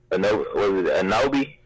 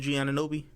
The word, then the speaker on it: Anunoby: Anobi? That's how you pronounce his last name? OG Anunoby?